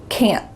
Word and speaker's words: can't: Instead, it's just that stop T at the end. It's rule number 2. Can't. Can't. Say it with me. My cats can't play. If you tried to add a schwa sound, can, it just sounds unnatural.